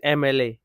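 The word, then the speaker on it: MLA: Next হচ্ছে শি ইজ এম এল এ, এম এল এ, এম এল এ, এম ই, এম এল এ, ই এর মতো উচ্চারণ আসে, তাই এন আসবে এখানে।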